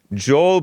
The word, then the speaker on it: Joel Pollak: not to be confused with Joelle Friday Dominick Joel Pollak is a Breitbart reporter and he's white